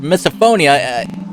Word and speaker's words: misophonia: that would be called misophonia I would have probably mispronouncing it called phobia on reflex but no it's phonia it didn't say it